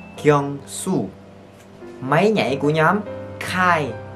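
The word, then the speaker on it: Kyungsoo: Tên thiệt sẽ là Kyung So. No no. Kyung Su. Kyung Su.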